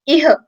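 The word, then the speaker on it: इह: Will not pronounce it as Ihe or something, it's Iha.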